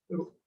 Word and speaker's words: rho: Is known as resistivity, उसको कहते हैं रो, RHO, उसको प्रोनाउंस कैसे करते हैं, इट इज रो, HO।